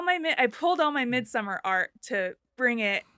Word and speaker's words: Midsommar: he wrote and directed its mid-summer which is the proper Swedish pronunciation of mid-summer and um I watched